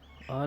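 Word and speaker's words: hour: आर में H silent है तो यहाँ पे हम एन का यूज़ करेंगे।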